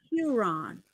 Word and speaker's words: Huron: that sounds you know if you say sure put an H in front of it you're on Huron Huron there you go that's